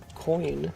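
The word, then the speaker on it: quoin: like extra structural reinforcement those called a coin but spelled with a Q which is a funny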